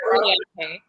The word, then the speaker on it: oleaje: It's oleaje. Almost. Just one syllable. Oleaje. Oleaje. Oleaje, yeah. I skipped one, but well, hello.